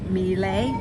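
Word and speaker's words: Miele: me I don't know talk about pronunciation I think it's me lay in my belly it's Italian meal a me it's like the vacuum cleaner I guess meal a really anyway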